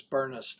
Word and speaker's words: Bernest: Um and again, my name is Bernest. That's Bravo. Uniform Romeo November Echo Sierra Sierra. Uh rhymes with furnace. Not spelled the same, but rhymes with it there.